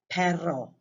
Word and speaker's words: perro: want to do that the second word is perro with two r's and it means dog like